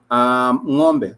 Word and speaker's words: ng'ombe: So you pronounce it with that apostrophe. It makes it ngo.